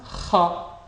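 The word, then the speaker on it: خاء: To pronounce Kha, pay attention to where your tongue hits the roof of your mouth and blocks your windpipe.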